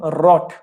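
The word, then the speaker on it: wrought: कुछ लोग ना इसकी प्रोनाउंसिएशन गलत बोलते हैं, कुछ लोग बोलते हैं मैं क्या है ये, कहीं कहते हैं डब्लू। फिर मैं एक आधे से पूछता हूँ, एक आधा ज्यादा अंग्रेज बनता है, डब्ल्यू।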